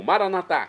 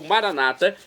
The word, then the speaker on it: maranatá: E agora do aramaico dialeto de Jesus, eu clamo maranatá, como dizemos nós católicos, ou maranata, como dizem nossos irmãos separados, os evangélicos ou protestantes. Não importa a pronúncia, o significado é o mesmo.